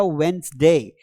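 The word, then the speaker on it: Wednesday: तो यहां पर आएगा वेडनेसडे। यहां पर डी को नहीं बोलना है।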